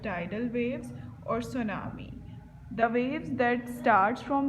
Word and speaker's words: tsunami: This word is tsunami. Here T is silent.